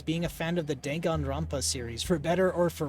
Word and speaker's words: Danganronpa: You say all the A's the same as the last one. Danganronpa. Okay, so that is how you say it.